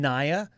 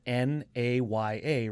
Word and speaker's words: Naya: decided that like when naya and it's spelt n-a-y-a right who decided it's naya who decided naya is n-i-a tell me mr linguist